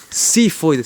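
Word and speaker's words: xifoides: Y una saliencia chiquita hacia inferior, que es el apéndice o apófisis sifoides. Se escribe con X. Sifoides.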